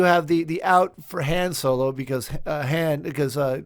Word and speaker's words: Han Solo: is one correct uh it's supposed to be Han Solo but like we always used to say Han Solo you know right like